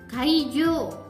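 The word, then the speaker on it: 会場: Venue itu bahasa Jepangnya kaijo. Kaijo. U-nya terbaca. Hanya saja dia dipercepat gitu ya istilahnya ya.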